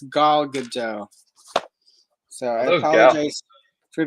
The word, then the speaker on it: Gal: I've been calling her Gail, and apparently it's Gal Gadot.